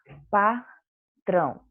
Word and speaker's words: patrão: Patrão. Nós temos aí a palavra patrão. Eu já marquei qual é a sílaba tônica. É o trão. Então, ela é a sílaba mais forte e está na posição 1.